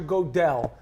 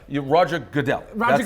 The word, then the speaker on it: Goodell: a whole long what do you think Roger godell how do you pronounce his name go the same way you pray asazi the same way I pronounced popcorn or hudu Roger Goodell name ever heard of it Roger Goodell godell